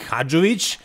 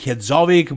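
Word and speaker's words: Hadžović: are fans of sadik hajic I know some of you call him sadik hovic but that's wrong pronunciation he is from over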